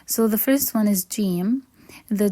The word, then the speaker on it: ج: within a word so the first letter is Jim the pronunciation basically same as the J sound in English so it's j j j next one is ha